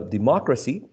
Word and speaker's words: democracy: also works so yes for words ending in any of these suffixes such as democracy and geology the stressed is the anti-penultimate syllable if we count from